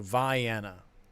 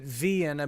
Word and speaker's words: Vienna: And Libby says they say it with the long I. So Vienna.